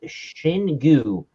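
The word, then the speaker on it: Xingu: of brazil it's uh their website says that this is pronounced shin gu and to be properly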